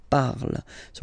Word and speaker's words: parles: Then for tu, you will have to put es, okay? Phonetically, tu parles. So you've got the two first forms, you pronounce them the same way. You write them differently, of course, because you've got here, and then you've got and s, okay? But then phonetically, they are the same.